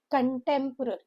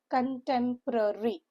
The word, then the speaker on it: contemporary: Contemporary five syllable word. So far this is the first word which is with five syllable. Contemporary. Stress is on the second syllable.